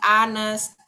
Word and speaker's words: honest: He is an honest guy. Dia adalah pria yang jujur. Teman-teman, ini kan H ini kan konsonan sebenarnya. Tapi cara bacanya adalah honest.